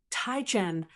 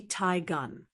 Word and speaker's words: Teigen: You might be tempted to say Ten or even Taien. But here's how it's actually said. Tegan is pronounced Taiun with a soft G sound like gun.